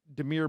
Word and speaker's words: Damiere: But again, we haven't seen N'Keal Harry or Damiere Byrd. Is that how I pronounce his first name? Yep. I apologize. Damiere Byrd.